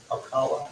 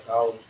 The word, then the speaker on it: Ocala: Ocala, you guys pronounce it Ocala, Florida.